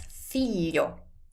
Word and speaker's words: figlio: If you want to say son, that's figlio.